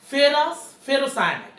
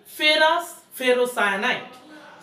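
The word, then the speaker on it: ferrous ferrocyanide: বিক্রিয়া করছে উচ্চারণটা দেখো ফেরাস ফেরোসায়ানাইট, আমরা তো এটা মানে তো জানি ফেরা ফেরোসায়ানাইট, আর এটা মানে কি, এটা হচ্ছে ফেরাসায়ন থেকে আসছে এই জন্য এটা উচ্চারণ হচ্ছে ফেরাস ফেরোসায়ানাইট।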